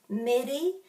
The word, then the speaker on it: Meri: pronunciation of the vowels so very similar to mary but midi midi midi some people will spell